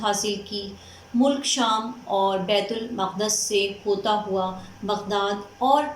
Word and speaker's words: بیت المقدس: چلا آیا۔ بیت المقدس، جی اسٹوڈنٹس آپ لوگ ہو سکتا ہے کہ اس کو بیت المقدس پڑھتے یا سمجھتے ہوں، لیکن اس کا صحیح تلفظ بیت المقدس ہے۔ بیت المقدس سے ہوتا